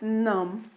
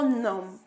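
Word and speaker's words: numb: that is pronounced as num I go num but the spelling is nuu m b meaning that the B is silent so we must take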